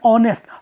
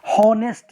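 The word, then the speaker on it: honest: फॉर एन आर आएगा, क्योंकि यहाँ पे एच दोस्तों क्या है, ये साइलेंट है, तो इस तरह के वर्ड के साथ फॉर आर आए, फॉर एन आर आएगा। राम इज एन ऑनेस्ट, हॉनेस्ट नहीं पढ़ते हैं। The good pronunciation is friends and students, ऑनेस्ट ना कि हॉनेस्ट आएगा।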